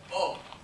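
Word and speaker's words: を: Now, O. Now we know that O is written differently, right? O is written as the hiragana wo, but it's pronounced O.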